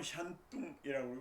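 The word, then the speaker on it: 山东: 산서 산동은 샨뚱이라고 그러고 산서는 샨시 산시 이렇게 얘기하는데 중국 발음으로 산동에는 상이 재상이 나타난다.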